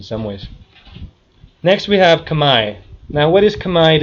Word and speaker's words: Khmer: Most people say Khmer because it says Khmer, but Khmer is actually Khmer because French and logic don't get along sometimes when it comes to, well, they just like to add letters they don't pronounce.